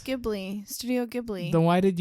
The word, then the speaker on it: Ghibli: because I actually don't know how it's pronounced. No, it's Ghibli.